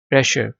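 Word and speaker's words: pressure: प्रेशर, इसमें भी are silent है।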